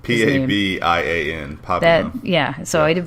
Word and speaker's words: Pabian: I probably just butchered P-A-B-I-A-N.